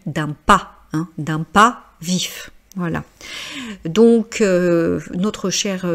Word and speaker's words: vif: Donc je rappelle hein l'adjectif vif I f on prononce bien vif donc alors que d'habitude on ne prononce pas forcément les consonnes et au fémin c'est